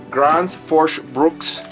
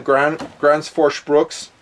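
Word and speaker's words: Gränsfors Bruk: And I'll say it the Swedish way, I think. It's Grand Forst Brooks.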